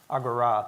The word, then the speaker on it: Agora: a lot about last day and a half Agora did I pronounce it right absolutely because we've been saying